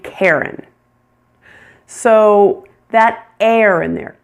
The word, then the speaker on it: Karen: Karen. Which R controlled vowel sound are you hearing in the name Karen? Air. Air. Air. You're hearing the one that sounds like hair. Hair. It's a long a plus.